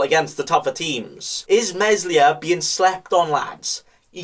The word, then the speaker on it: Meslier: very good this caesar starting with uh a mispronunciation uh and excuse my french but it's meslier he is a young keeper that still has